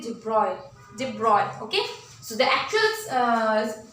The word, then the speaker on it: de Broglie: अच्छा, एक चीज और, इसको डी ब्रॉगली यूजुअली हम एक्सप्लेन करते हैं just because of its spelling, but इट is actually डिब्रॉय।